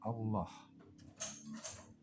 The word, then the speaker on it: Allah: Sama seperti nama Rabb kita Allah. Lamnya ditulis pendek tapi dibaca panjang.